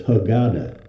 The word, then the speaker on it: Haggadah: It says the Haggadah, and that's the proper way to say it, is Haggadah. Okay? It's Haggadah.